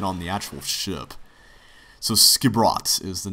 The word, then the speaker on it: Skipbrot: So Skibrot is the name of the town. That's how you pronounce that.